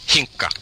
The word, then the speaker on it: Hinkka: Hinkka. Hinkka. Yeah, there's two K's in Finnish that's like Hinkka.